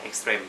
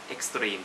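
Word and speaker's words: Extrême: Mat Lumia Extrem เนี่ย บาง คน ก็ อ่าน ว่า Extrem Extrem mat luminate extreme อย่าง มุม มี พา เพิน ก็ อ่าน ว่า extreme ซึ่ง ก็ ไป ถาม ที่ เคาน์เตอร์ เขา บอก ว่า อ่าน ว่า extrem ค่ะ อ มัน เป็น ภาษา ฝรั่งเศส you know what ซึ่ง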